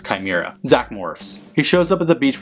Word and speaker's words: chimera: are trapped in it Rita's evil shaw mira monster because no one on this writing staff knew how to pronounce chimera Zach Morris he shows